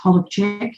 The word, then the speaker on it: Hollac: I was born Hollac or it's pronounced Holek in Polish on the 28th of October 1969 in Sydney, Australia.